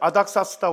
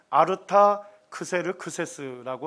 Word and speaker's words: 아르타크세르크세스: 그 다음에 이제 아닥사스다 왕이 등장합니다. 역사에서는 또 뭐 라틴 그리스식 발음으로 하게 되면 아르타크세르크세스라고 한답니다. 동일한 인물입니다. 아닥사스다 1세 때도 이 아닥사스다 왕하고 그리스하고 국지적인 전쟁이 있었어요.